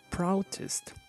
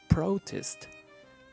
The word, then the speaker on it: protest: word we are pronouncing is a noun the intonation is on the first syllable if we are pronouncing